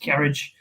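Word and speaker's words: Cairdeas: There's one question by Dean: is there any idea if the Lefroy Cardace, which is pronounced Carriage, 2020 is coming here?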